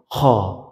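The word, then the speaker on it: خ: ওকে, এরপর 3 নম্বরে ছিল শেষ থেকে, মানে শেষ থেকে গইন, খ, গইন, খ। আপনি যদি গইন, খ বলেন তাহলে দেখবেন শেষ থেকে উচ্চারণটা হচ্ছে, এখান থেকে উচ্চারণটা হচ্ছে।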